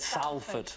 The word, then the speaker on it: Salford: He said Salford. Well, it's spelled S-A-L-F-O-R-D.